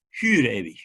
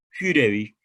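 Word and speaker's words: für ewig: Fürewig, la U es una U alemana que se pronuncia como la U la francesa, es como Fürewig, ¿no?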